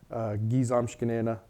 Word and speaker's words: gi zamshkenena: And a little note about that, I know when it's spelt out, gi zamshkenena, there's two G's next to each other. Here in Wisconsin, the speakers don't say gigi. They'll blend those two G's into one sound, and it'll sound like just one.